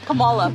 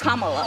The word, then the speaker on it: Kamala: Earlier you said Camala. Way she pronounces her name is Kamala.